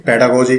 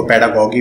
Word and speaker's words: pedagogy: पेडागोजी को इसी तरह से प्रोनाउंस करते हैं, पेडागोजी, कहीं इसको पेडागोगी भी कहते हैं, तो डजेंट मैटर, चीजें बस याद होनी चाहिए।